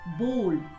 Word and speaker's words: bowl: But the correct pronunciation of this word is bowl.